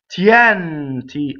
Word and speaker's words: Tienti: Tienti, open E.